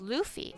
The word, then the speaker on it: Luffy: It's pronounced Luffy. Oh, Luffy.